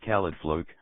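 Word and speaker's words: Caledfwlch: The Khalid Volch sword, pronounced Khalidfluk, was known as a lightning sword because it emitted lightning-like rays.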